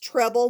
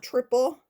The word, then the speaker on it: treble: It's pronounced treble, not triple.